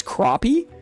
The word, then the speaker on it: crappie: Just like how you see the word crappie, you would want to say crappie, but apparently it's crappie.